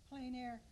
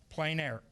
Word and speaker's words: plein air: This is pronounced? Plein air. Plein air.